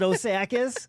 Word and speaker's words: Osakis: Is it Osakis? Osakis. Osakis. Cloquet. Cloquet. It should be cloquet rhymes with croquet.